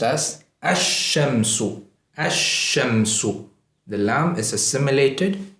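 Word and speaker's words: الشمس: The lam is assimilated into the first letter, and the first letter is given shadda. So this is pronounced as ash-shamsu.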